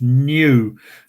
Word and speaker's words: nu: letter n but it's the greek letter is pronounced new and you can see